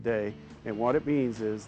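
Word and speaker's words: Dei: dice our bestselling items uh is under our day for telly brand it's it's looks like d fory but it's pronounced day and what it means is the brand means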